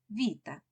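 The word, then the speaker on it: βήτα: грецького алфавіту Альфа і бета в грецькій мові вимовляється як Віта абетка - це українська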